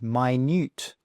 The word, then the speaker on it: minute: Now have a look, and how do you think you pronounce it? Well, no, it's not minute like time, okay, not minute. It's pronounced minute.